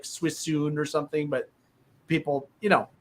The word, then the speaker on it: Suisun: So and don't think you're going to find Suisun on a map spelled phonetically as Suisun. Right? It's like Suisun. It's like Swissun. Yeah. S-U-I-S-U-N. It is not spelled like it's said.